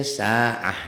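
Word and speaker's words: ساعة: Kecuali tak marbutoh, contoh saati, saatu, saatan, apapun barisnya ya. Apapun barisnya itu lihat tetap aja sa'ah dibacanya. Sab'ati, sab'atu, sab'ata, sab'atan, sab'atin, sab'atun tetap aja kalau dihentikan jadi sab'ah. Itu pada tak marbutoh. Tak marbutoh bunyi taknya kalau dihentikan berubah menjadi ha dan jadi sukun gitu.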